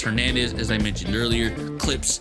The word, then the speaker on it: Clypse: as I mentioned earlier, Clips, but it's spelled CLYPSE, Chris Clips Hernandez.